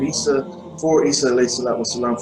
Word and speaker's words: Isa: It would be pronounced Isa, and in the Quran it's shown as Isa alayhi salatu wasalam.